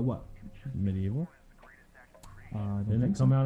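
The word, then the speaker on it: MediEvil: Sony published title Medieval. I don't know if that's how you pronounce that. It's Medieval. That's how British people say it.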